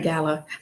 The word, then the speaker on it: Gallo: Irene Gallo. I can never remember how to pronounce the last name, so I was aware. Yeah, it's like the wine, Gallo wine.